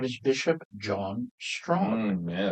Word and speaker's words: Strachan: 1812 and uh his name is Bishop John Strong. Yes. Now you don't spell it that way, do you?